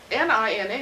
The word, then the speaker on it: Nina: N-I-N-A is supposed to be pronounced Nina. You know, I've been to Europe, and it's all over Europe, but it's Nina.